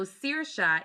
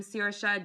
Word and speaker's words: Saoirse: Gaelic language at all, you know that the way Gaelic names are pronounced completely different from the way they are spelled. So Saoirse is actually spelled Saoirse.